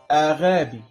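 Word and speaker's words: ⲁⲅⲁⲡⲏ: حرف غمة بيتنطق 3 أصوات، حرف الغين والنون أو الجيم. جيم. أمثلة: كلمة محبة مثلا أغابي أغابي. كلمة محبة أغابي. لو ما جاش وراها الحروف المايلة للكسر اللي هي هذا وأي ويوضا وها، بيتنطق غين أغابي.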